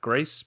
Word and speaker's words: Gris: I found out it's pronounced GRIS, but most people might call it GRIS, GRIS.